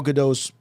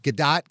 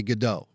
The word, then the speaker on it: Gadot: broke through uh gal gadot's performance is wonderful i have to correct you her name is gal gadot like gadot the nerds get crazy if you say godot really they go they